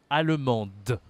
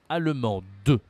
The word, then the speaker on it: allemande: prononciation est différente Alem allemande allemand allemande d'accord ici il faut prononcer le E à la fin la prononciation est différente